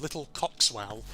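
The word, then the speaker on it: Little Coxwell: little village it's called Little coxswell now it's spelled of course c-o-x w-e-l-l but of course uh the way you pronounce that it sounds more like swell which of course might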